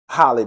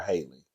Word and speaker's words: Halle: to pronounce Holly because I always want to call her Haley but it's Holly like it's in Holly Berry so The Little Mermaid